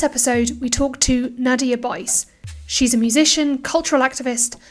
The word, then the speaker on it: Buyse: Hi, my name is Nadia Buyse, rhymes with Miami Vice.